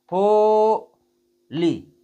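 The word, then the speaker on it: holy: तो जैसे हम देखिए बोलेंगे तो कैसे बोलेंगे? हो ली। देखिएगा ध्यान से मैं बोल रहा हूं। हो देर तक उच्चारण किया। अब ली बोलेंगे तो देर तक उच्चारण नहीं करेंगे। एकदम से बोल देंगे। ली हो गया। अब इसको देखो बोलेंगे। होली होली फिर देखिएगा होली यह होता है इसका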